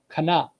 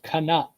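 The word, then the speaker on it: כנף: So in Hebrew, it does not get dropped because we pronounce it as kanap, 2 syllables, kanap.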